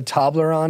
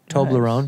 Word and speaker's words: Toblerone: I'll go Toblerone, number one. Toblerone, nice.